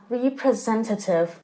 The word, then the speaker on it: representative: typical example of something this adjective is stressed on the third syllable and is pronounced as representative and how about confusion